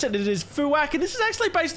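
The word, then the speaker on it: Fuack: I do have to be careful how to pronounce it it is fuak and this is actually based on a platypus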